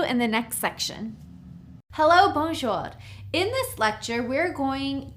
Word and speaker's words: bonjour: So to say hi, hello, hey, you would simply say bonjour. It's two syllables. Bonjour.